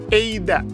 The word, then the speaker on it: Eida: atau tulisannya ada ya, walaupun tulisannya ada, tapi dibacanya Eida gitu ya. Jadi teman-teman gak usah kaget, loh kok ini yang benar ada atau Eida? Eida. Tapi tulisannya ada, ADA.